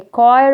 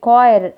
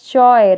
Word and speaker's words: choir: girls then singers a choir of singers you can see these are singing here we say a choir don't pronounce it as choy okay some students they